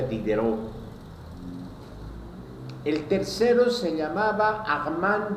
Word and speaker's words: Diderot: Diderot se escribe, pero se pronuncia Dideró.